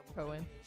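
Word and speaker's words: Cowan: weekend and then Zack Cowen now Zach Cohen uh W surprising uh spelled like cow it is but it's Cohen he we saw him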